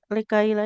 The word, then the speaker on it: لكي لا: likai la tahzanu ala Lamnya eh, panjangkan dulu huruf lamnya. Likaila.